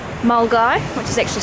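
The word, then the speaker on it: Milngavie: a little town called mul guy which is actually spelled mil gevy but that's a Scottish pronunciation for you so I guess good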